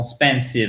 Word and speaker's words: expensive: Parce que comme cette première syllabe, elle est juste avant l'accent tonique, avant la syllabe qui est porteuse d'accent tonique, du coup, elle est vraiment atténuée. Mais il faut bien sûr la prononcer, hein. C'est pas expensive, c'est expensive. Mais il faut bien faire l'accent tonique.